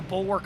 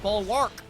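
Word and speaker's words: Bulwark: Okay, it's Bull Work of Light. You might be like, "But Bahama, that's pronounced Bullwark." Nope. It's bull work. I don't know why you don't pronounce the A for some weird reason.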